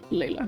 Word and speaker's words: Laya: uh the mother of Laya or Leila. I I like to pronounce it Laya, but again, the other devs might not agree.